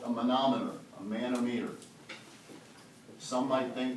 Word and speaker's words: manometer: joke turn through okay a man-made a manometer is really how we pronounce it it measures the vapor